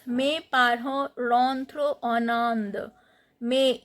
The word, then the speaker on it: parents: Parents. T and S both are not pronounced.